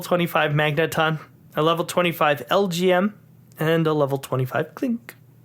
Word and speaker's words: LGM: Yeah, LGM. Right. Yeah. Okay, that was the way that that I could remember how to say it anyway, because I was like, Elgum? What? No, it's LGM.